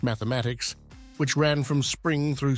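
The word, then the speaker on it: +–=÷×: his North American tour plus equal sign X pronounced mathematics which ran from Spring through September concluding in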